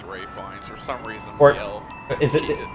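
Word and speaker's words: Ralph Fiennes: last head hono yeah it seems like you pronounce his name Ralph findes but really it's Ray fines for some reason is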